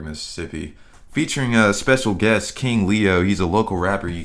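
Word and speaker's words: KXNG Leo: That's King Leo. It's spelled KXNG, Leo.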